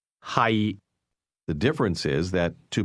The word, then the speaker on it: 係: Hi. The difference is that to be is pronounced with a lowle tone and to be located is pronounced with a mid-risising tone.